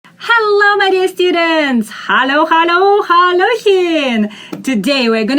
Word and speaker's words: Hallo: Hallo, hallo. Make L soft.